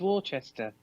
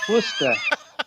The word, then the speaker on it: Worcester: All I can say is Worcester. What is that about? Worcester. Worcester. No, boy, you guys, It's so easy to just pronounce it phonetically. Worcester. Where is Worcester? Worcester would be spelled Wooster. Like rooster, it would be Worcester.